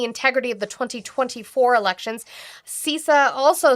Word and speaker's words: CISA: The Cyber Security and Infrastructure Security Agency, which apparently I've been pronouncing wrong, it's CISA.